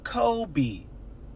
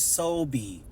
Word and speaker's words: Kobe: with the K but they both pronounce it Kobe right one does not say oh my name is soie no my name is Kobe I don't use the S sound even though it's a c in my language that is